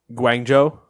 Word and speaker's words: Guangzhou: All right, so Hangzhou, Chengdu, and Guangzhou. Guangzhou. Guangzhou. Yeah. Okay. In case you're curious, if you want to get more Nate pronunciations on these, Hangzhou, Chengdu, and Guangzhou is how I would.